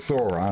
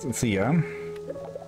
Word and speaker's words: Thora: yeah I had her I had her name wrong earlier it's Thora not Thea Moi hey be I